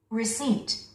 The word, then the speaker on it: receipt: Receipt. Receipt. P 발음을 해서는 안 됩니다.